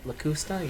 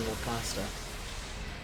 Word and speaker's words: Locusta: How do you say her name? Lacusta? Lacusta? Yeah, that's how she says it, but I keep saying Lacosta.